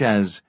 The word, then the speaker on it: as: as marked in blue is usually unstressed and pronounced with the short unclear vowel schwa when we use it in a phrase such as as i was saying